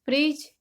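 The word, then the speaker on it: fridge: इस सब में हम देख रहे हैं कि जी से पहले डी आ रहा है तो डी की आवाज हम बिल्कुल नहीं लेंगे, डी को हम साइलेंट ही रखेंगे।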